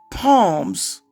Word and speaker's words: Psalms: I said, if your rationale is that the word Psalms starts with a P, therefore it must be palms, how do you rationalize the S that follows the P?